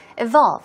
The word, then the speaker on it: evolve: have the word evolve evolve here we go stress goes right there on the second syllable evolve it means to advance